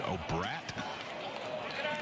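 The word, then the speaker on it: O'Brate: It's O'Brat is the way they pronounce it.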